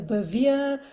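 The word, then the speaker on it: Bevere: pronounce his surname it's bervia it's spelled b-e-v-e-r-e depends whether you're French or you're pronouncing it with a very Western accent it could be um you know bavia well you decide Lisa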